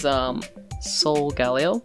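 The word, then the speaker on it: Solgaleo: Next one is Sol Galeo. Is that how you pronounce it?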